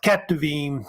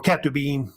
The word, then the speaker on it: Ketuvim: And then you got Ketuvim, or Ketubim, pronounced either way, of course, the writings also as well.